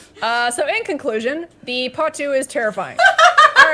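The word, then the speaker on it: potoo: so in conclusion the patu is terrifying all right don't look it up uh it will haunt your nightmares yeah yeah two birds it's spelled p-o-t-o-o like yeah potu oh phase only 3890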